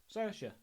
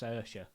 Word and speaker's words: Saoirse: Saoirse. The woman in every great film ever. Oh! Saoirse. I think it's pronounced Saoirse.